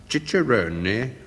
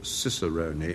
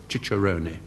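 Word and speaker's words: cicerone: a word I've only just learned how to pronounce. Um, Chicheroni or some people call Ciseroni and it's spelled C I C E R O N E and I plump for Chicheroni.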